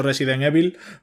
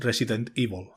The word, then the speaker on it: Resident Evil: gusta a ti pronunciarlo yo suelo decir yo siempre he dicho Resident Evil pero ahora se dice con su formato inglés Resident Evil hombre más curero no